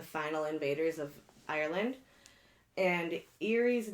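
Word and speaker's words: Ériu: Their names were Banda, Fula, and Eerie, I think is how it's pronounced.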